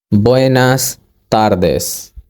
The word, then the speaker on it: buenas tardes: of the day is within as good afternoon Buenas Tardes Buenas Tardes please pause the video and repeat